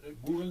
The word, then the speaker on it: Google: y decir trumpismo porque también sí y pero Google, por ejemplo, o sea, googlear, bueno, Google nosotros decimos Google y y vosotros decíis Google, ¿no?